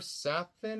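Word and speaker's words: Safin: um what's his name Leifer saffin I believe that's how you pronounce his name that's the villain of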